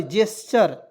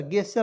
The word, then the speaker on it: gesture: क्या पढ़ेंगे दोस्तों, देखिएगा GESTURE, जेस्चर। क्या पढ़ेंगे, जेस्चर, गेस्चर नहीं, जी का उच्चारण यहाँ पे जा के रूप में करेंगे, जे आधा स च आर।